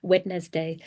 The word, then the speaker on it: Wednesday: The word Wednesday is pronounced differently than it is spelled. Yes, Dylan, you're right. I know. Don't get me started on the English language. We'll be here too long. Two syllables, what looks like it's three.